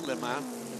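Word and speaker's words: Léman: Le in the terms of the name of the team is not lemon the race. It is Lake Leman which many people would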